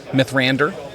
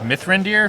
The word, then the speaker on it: Mithrandir: Mythrander. It's pronounced Mithrandir.